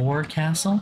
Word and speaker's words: forecastle: The forecastle on a ship refers to the upper forward Forecastle? ship, but it's pronounced forecastle. Why is Thank you. that? Okay. Try pronouncing it like an English sailor with no formal education. Forecastle. Forecastle. Over time it whittled down.